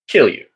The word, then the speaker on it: Kilju: It is, however, pronounced Kilju. And that is not, I'm not speaking English when I say that.